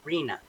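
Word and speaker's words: RHNA: And I want to be clear too, we sometimes talk about an acronym that's pronounced RENA.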